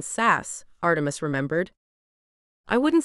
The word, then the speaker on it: Sass: someone's tamed Magda sass he always deliberately pronounced their surname sassy rather than sass Artemis remembered I wouldn't